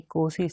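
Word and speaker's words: Nkosi: यहाँ तक जो नहीं, हाँ कोसी, इसमें एन साइलेंट है, कोसी सेक्लेल आई अफ्रीका,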